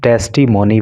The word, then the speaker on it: testimony: देखो इस वर्ड का प्रोनाउंसिएशन टेस्टिमोनी भी होता है और इसका प्रोनाउंसिएशन टेस्टिमनी भी होता है।